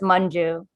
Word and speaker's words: Manju: Yeah, the A makes a U noise, so it's Manju.